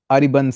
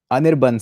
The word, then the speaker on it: Anirban: it's worth it okay urban say ariban says no anirban says sorry i said your name wrong my bad i apologize